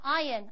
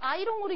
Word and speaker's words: iron: 자, 다림질하다 iron, I-R-O-N. 이거 아이롱으로 읽는 분 안 계시죠? 아이롱 파마라고 하시면 안 돼요. iron입니다. We do not pronounce R. R 발음 안 해요.